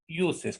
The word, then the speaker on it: uses: La U se pronuncia como una I-U, uses.